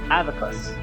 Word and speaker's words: abacus: I learned is that the b in Greek beta it's not it's not like a hard be like like beta it's actually vaa so abacus is actually pronounced advocus watch it you'll shoot